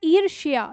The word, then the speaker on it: ईर्ष्या: देखो ये है ईर्ष्या, ये इसमें य का उच्चारण भी हमें लेना है, लेकिन इसमें ईर्षा केवल ये हमारा य इसमें गायब हो जाता है, ठीक है?